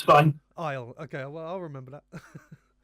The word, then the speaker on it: IL: We say it's pronounced Isle, like Isle of Man or something like just Isle. Okay, because between me and my colleagues, it was either IL or ill.